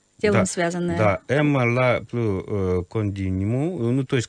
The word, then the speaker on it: ЭММА: А вот вы неправильно набираете, просто читается эмма.